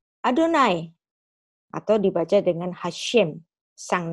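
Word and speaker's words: יהוה: Berarti ini bisa dibaca Yehovah. Nah, tapi dalam tata krama orang Ibrani, ini nggak diucapkan Yehovah walaupun tertulis demikian. Tapi haruslah dibaca sesuai tata krama Adonai.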